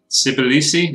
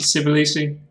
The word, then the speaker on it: Tbilisi: Tbilisi, is that how you pronounce it? It looked pretty good. Is it Tbilisi? Begins with a T, but like a silent T.